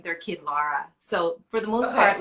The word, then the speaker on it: Lara: you prefer laura or laura how do you pronounce it well technically my name is laura because i mean that i'd have you in